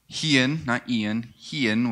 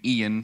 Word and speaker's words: Hian: All right, to my right, your left is Hian, which I kept saying Ian for over half the trip because just how they pronounced it was quick.